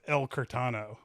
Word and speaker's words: El Curtano: I say it's El Curtano.